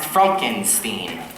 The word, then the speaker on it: Frankenstein: truth laughs that's Frankenstein my name it's pronounced Frankenstein yes yes the whole